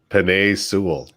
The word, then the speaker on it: Penei Sewell: Penei Sewell.